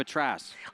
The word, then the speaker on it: Atras: Now he's with Rob Atras. I have a question excuse for you. Me. I can't figure out how to pronounce it either, but it's Atras like mattress.